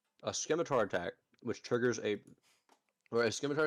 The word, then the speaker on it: scimitar: If I'm correct, a scimitar attack, which triggers a scimitar attack and a trident attack. Scimitar, you do not pronounce the C.